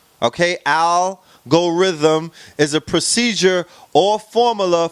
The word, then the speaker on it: algorithm: also in web 1.0 algorithm pronounced I'll go rhythm okay I'll go rhythm is a procedure or